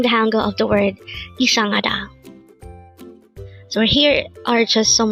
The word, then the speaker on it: 이상하다: This is pronounced as a four-syllable word. The first syllable is I, second syllable is sang, third syllable is ha, and fourth syllable is da.